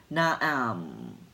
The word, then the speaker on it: Nam: mentally say the word Nam pronounced na na - am Nam which embodies the essence